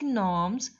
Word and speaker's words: gnomes: G is silent here.